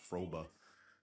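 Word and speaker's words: Fröbe: bring Gert frobe um I think his his last name is actually pronounced froba but uh they're gonna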